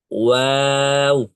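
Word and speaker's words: واو: সবসময় আপনাদের কমেন্টগুলো পড়ি ভালো লাগে আলহামদুলিল্লাহ হয়েছে ওয়াও হুজুর তো আমাদের কমেন্ট দেখেই না পাত্তা পাত্তা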